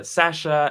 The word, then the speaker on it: Sacha: Twitter so that's uh Sasha s-a-c-h-a that's how you pronounce my name and spell it differently uh yes I'm French